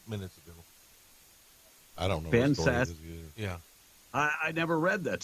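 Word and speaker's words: Ben Sasse: It was Ben Sassy. Wait, I didn't catch that. Well, I think you said Ben Sassy. This text is saying it's Ben Sass with a silent E.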